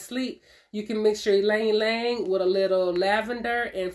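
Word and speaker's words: ylang-ylang: Ylang ylang. Ylang ylang. Let me let you see it, because it don't look like ylang ylang, but it is. It's the way it's spelled is what I mean.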